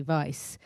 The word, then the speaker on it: Weisz: to my agent and I changed the spelling to um v y c e to spell phonetically Vice and my Asian um